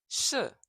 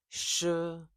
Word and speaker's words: 是: 学学学 And SH is 是 is your tongue back further in the mouth.